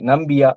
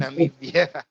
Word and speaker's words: Namibia: and also in Namibia, I think Nambia. Oh, I can't pronounce the country well, but I'm sorry for Namibia, it's Namibia.